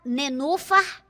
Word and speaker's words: Nenufa: Nenufa. Nenufa. Olha a sílaba tônica.